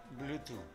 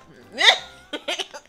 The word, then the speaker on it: Bluetooth: Bluetooth. ¿Cómo? Bluetooth. Cuando ves un TH en inglés, tienes que pronunciarlo. Tienes que sacar tu lengua de tu boca, así, entre tus dientes. Bluetooth.